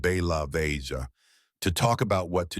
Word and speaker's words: Belavezha: in a government retreat called Bellavvesia, pronounced Ba Laia, to talk about what to do next.